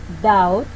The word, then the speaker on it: doubt: Rule 6 and last. When the B is located before the letter T in the same syllable, it will be silent. For example, doubt, death.